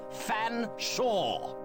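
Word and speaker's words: Featherstonehaugh: S silent e h a u g h fan Sha I'm terribly sorry Mr fan Shaw please accept my sincerest apology very well but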